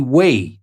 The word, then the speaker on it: weigh: don't pronounce the G we say way without pronouncing the GH actually and the same